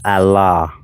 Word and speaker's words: Allah: Romeo In Islam, the god's name is Allah. A l a h. When you're dealing with the Arabic language, al is the. So Allah is the la.